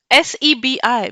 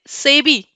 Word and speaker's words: SEBI: सो इफ यू सी, हमने क्या किया, हमने देखिए security exchange board of India का SEBI ले लिया, बट we don't pronounce it SEBI, we call it सेबी।